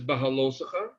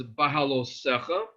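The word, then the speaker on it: Beha'alotcha: the name of the parsha is bahala or some pronounced as bahalo and this refers to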